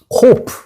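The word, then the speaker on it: קוף: 코프.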